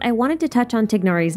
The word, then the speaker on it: Tighnari: You probably noticed that in almost every language, it's not pronounced Tignari, but some variation of Tainari or Tinari. If you're wondering which version is technically correct, well, the short answer is Tignari, but with an Arabic sound that I cannot make.